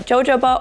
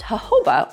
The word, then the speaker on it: jojoba: be real I used to always call it jojoba oil but doing a little further research it's actually pronounced hoba oil and why I love this product is